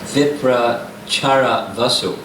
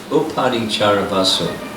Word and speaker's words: Uparichara Vasu: And Shrutakirti, Kunti and Vasudeva's sister, married one of the sons of Viprachara Vasu. That's not how to say his name. Uparichara Vasu.